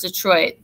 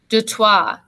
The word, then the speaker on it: Detroit: boston or new york we made jokes about how to pronounce detroit de trois 2 3 and michigan rhymes with